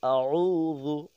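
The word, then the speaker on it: أعوذ: একটা উচ্চারণ করেছি উল আউজু আউজু দাল নরম করতে হবে আউজু আইনটা গলা থেকে উচ্চারণ করতে হবে গলাটা একটু চিবি দিয়ে ধরার মত আর কি বিরব্বিন বিরব্বিল ফালাক রব্বিল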